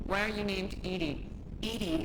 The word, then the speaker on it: EDI: are you named Ed Ed is the phonetic pronunciation of Eed that is an acronym